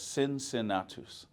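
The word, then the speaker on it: Cincinnatus: C I N C I N A TUS. Sin sinatus.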